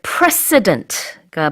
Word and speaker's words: precedent: 그 다음에 precedent가 바로 이 전례 또는 선례라는 뜻인데 그때는 s 발음이 아주 강해요.